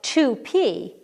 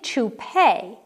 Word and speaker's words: toupee: Number 2, it looks like toupee, but it's really toupee because it comes from the French.